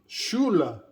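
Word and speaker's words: Schule: the word in german the word school does not have that hard c h in german the words school is shuru shula and so shula is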